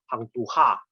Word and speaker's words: Hang Tuah: Ada orang baca Jawinya bukan Prosa Ahmad Adam, bacanya Hang Tuha, bukan Hang Tuah.